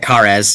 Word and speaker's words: Khares: Now, the Golden Age of Khares, and I'm hoping I got it pronounced right. Yeah, you got it, Khares, yep.